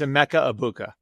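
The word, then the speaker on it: Emeka Egbuka: A Mecha Ibuka. Did you see? And the uh And just for people who don't know, the G is silent. It's a Mecca Abuka.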